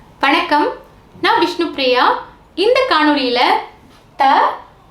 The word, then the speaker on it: த: பார்க்கலாம் இந்த வரைபடத்தை பாருங்க நாக்கின் நுனிப்பகுதி மேல் பல்லின் அடிப்பகுதியை பொருந்தி இருக்கு இல்லையா இப்போ நம்மோட நாக்கின் நுனியைக் கொண்டு மேல் பல்லின் பகுதியை பொருந்துமாறு வைக்கணும் வைங்க இப்படி வச்சிட்டு நம்ம உச்சரிச்சோம்னா இந்த த வந்துடும் இப்போ எல்லாரும் நாக்கின் நுனி